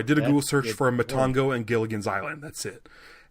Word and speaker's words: Matango: a Google search for Matango or Matango. I think it's pronounced both ways. I think they say Matango in the movie, so I'll stick with that. So I did a Google search for Matango and Gilligan's Island.